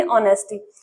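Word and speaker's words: honesty: जिनको नहीं पता होता तो उसको एच साथ में पढ़ते हैं। पर इसका एच नहीं पढ़ा जाता। क्यों? क्योंकि यहां एच साइलेंट है। सिर्फ इसको क्या पढ़ेंगे? ऑनेस्टी।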